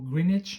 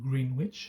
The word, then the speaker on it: Greenwich: qu'on appelle GMT GMT c'est pour greenage mintime ou si vous préférez en français le temps moyen de Greenwich ou Greenwich si vous voulez prononcer comme ça c'est un Angleterre c'est